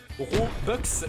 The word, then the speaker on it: Robux: robux excusez-moi et oui tous les youtubeurs vous montrent quand ils disent robux c'est une vieille prononciation à la française alors qu'en réalité ça se dit robux et oui pas de